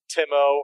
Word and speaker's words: Timo: Timo, rhymes with limo. Tim O.